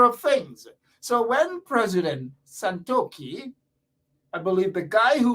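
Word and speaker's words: Santokhi: then president santoki santoki don't mistake and mispronounce the name it is santoki he is in right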